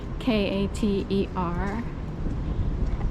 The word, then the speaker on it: Kater: It's Cater Street, Kater. They cater to people, but even though they spell it differently.